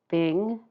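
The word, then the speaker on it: 丙: And these are pronounced jia, yi, bing, ding, and I'll try to be very careful with those two because they're very close together in pronunciation. Wu, ji, geng, xin, ren, and kui.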